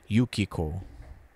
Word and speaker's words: Yukiko: correct on that one usually it feels like the rule is if there's a three-syllable word in Japanese the accent feels like it goes on uh second syllable Yukiko perhaps she was taking